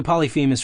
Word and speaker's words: Polyphemus: Also, Polyphemus rhymes with penis, I guess.